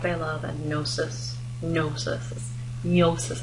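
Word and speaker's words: gnosis: love and nosis nosis nosis is how it's pronounced um so Agape is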